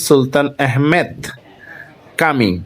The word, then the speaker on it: Sultan Ahmet Camii: সুলতান আহমেদ মসজিদ এবং তুরস্কে এটার উচ্চারণ সুলতান আহমেদ কামি কামি মানে মসজিদ ঢুকেই মসজিদের বাইরে চোখে